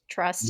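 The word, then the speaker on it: TR/ST: band called trust but the U is a slash so it looks like Tris but it's actually pronounced trust no it's a goth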